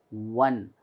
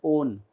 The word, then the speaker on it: one: wet wet similarly here though it is o the pronunciation is one it should not be pronounced as own you know just because